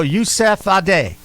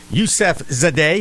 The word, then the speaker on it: Yusefzadeh: I think the Z is silent, so I'm going to go Yusefzadeh. Yusefzadeh. It isn't silent.